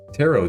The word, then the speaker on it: tarot: But there's also my tarot deck. Silent T there.